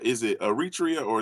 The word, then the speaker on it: Eritrea: you said is it Eritrea or is it Eritrea Eritrea Eritrea that's how you that's right yes yes but but how